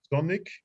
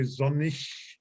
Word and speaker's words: sonnig: There are 2 means of pronunciation in German with the IG at the end. You can say sonnig, as it is laid down here in the pronunciation on the right side, but you can also say sonnig, like in ich.